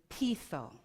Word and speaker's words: peitho: Now, when I look for where did this word originate from, it comes from the Greek word peitho. Peitho, it's spelled P-E-I-T-H-O, which means to persuade.